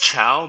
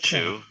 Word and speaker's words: Chou: It's Chow, but I think some people pronounce it Chew.